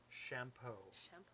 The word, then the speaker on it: Champeau: By John Champeau. And that is how you pronounce it because he spelled it out for me.